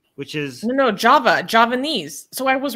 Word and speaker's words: Javanese: close it's close it's it's spelled with a J like Java Javanese or something in that language I